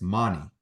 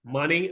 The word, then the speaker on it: Mani: It's Mani, right? Money. Yes, Mani, sir.